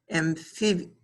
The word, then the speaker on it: amphiuma: And believe it or not, it is a renowned type of salamander, known as the amphiuma.